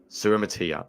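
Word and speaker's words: Suamataia: I will not pronounce his name correctly, but Kingsley Suamatia. Suramatia, there you go.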